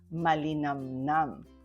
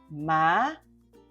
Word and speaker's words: malinamnam: If you want to go beyond saying it's simply delicious, that you can say malinamnam. Okay, shall we do it that again? Ma-li-nam-nam. Okay, shall we pronounce it again together?